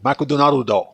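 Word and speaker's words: マクドナルド: of hard for me to get the the pronunciation out so let's try it again maku do there we go makon do Ron do makon do that's how you say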